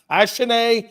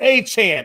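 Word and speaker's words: Achane: Uh Ashen. No, it's Achan.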